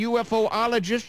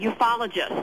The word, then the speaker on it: ufologist: Now, you deal with ghosts, and you're a psychic and a UFOologist. Is that right? Am I pronouncing that term right? Yes, that's correct. You said it correctly. Ufologist. Okay. Ufologist. Yes. Ufologist.